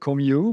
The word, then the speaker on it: Comeau: And Comeau is spelled C O M E A U, but you pronounce it Comeau. Still a French name.